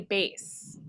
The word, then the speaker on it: bass: So the first graders would like to know, why is it called a bass? Well, I think even though it's spelled like the fish, B-A-S-S, I think the reality is we usually play the lowest note in a chord.